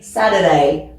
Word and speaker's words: Saturday: internet internet donc là on prononce même pas le T ici c'est plutôt comme comme des d Saturday ça on l'entend souvent